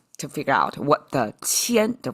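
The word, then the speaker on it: 天: And I have to look up a dictionary of how it's pronounced. It's tiān.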